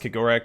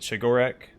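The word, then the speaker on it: Cegorach: God is it's pronounced korak I've always said chorak CH sound he's uh one of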